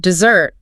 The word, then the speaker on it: dessert: So if you want that sweet reward dessert, the stress is on the second syllable. Derer. Dessert. But if you're talking about the dry land, the desert, the stress shifts. It goes to the first syllable.